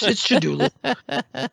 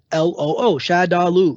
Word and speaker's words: Shadaloo: really knows what it's called, but no, it's Shadulu. And I'm like, hey, we do know because it's spelled out for you. Yeah. It's Shadaloo.